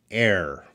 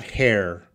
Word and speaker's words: air: The H is silent, so we don't want to say the H. So, knowing that, Arash, how do we pronounce that word? Air. Not hair. Air.